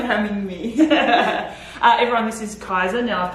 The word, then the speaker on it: Kaisa: Everyone, this is Kaisa. Now I've pronounced that correctly, yes?